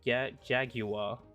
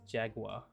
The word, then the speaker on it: Jaguar: Okay, so on Google, British pronounce it Jaguar, while American pronounce it Jaguar.